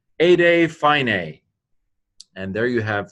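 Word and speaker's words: ἤδη: Ede, already, eta delta eta, ede.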